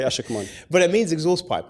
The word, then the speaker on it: Ashekman: I'm glad that you pronounce it ASHEKMAN, because some people, wink wink, we know who, pronounce it ASHEKMAN or ASHEKMAN.